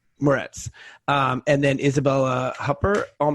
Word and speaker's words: Moretz: So it's with Chloe Grace how do you pronounce her last name? Moretz.